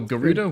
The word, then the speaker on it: Gerudo: way you pronounce Flash Gerudo fruit. Yeah, I think it's a hard G. Yeah. Oh, Gerudo?